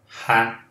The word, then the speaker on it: had: O passado de have, eu pronuncio had. Não é um som de E, simplesmente. É um som de A junto com o som de E, lá no fundo da garganta.